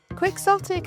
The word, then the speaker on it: quixotic: Let's spell it together. Q U I X O T I C. Quicksotic is an adjective.